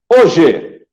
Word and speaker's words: hoje: E o H, tá? Quando ele não tiver som. Hoje. Então, a palavra hoje nós temos 4 letras e 3 fonemas.